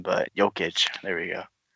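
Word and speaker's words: Jokić: everyday it's hard to say his name but yo kitch there we go G he's not very he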